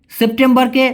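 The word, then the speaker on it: September: August বুলান August অগস সেপ্টেম্বরকে ওরা বলে সেপ্টেম্বর মানে টি এর জায়গায় শুধু ত হবে সেপ্টেম্বর হ্যা এরকম হবে তেমবার সেপ্টেম্বর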